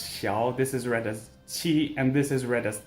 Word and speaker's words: qi: Again, this is xiao, not xiao, and this is qi, not kai, and this is cao, not cow.